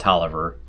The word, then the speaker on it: Taliaferro: in 1675 along with robert taliaferro pronounced toliver that would be robert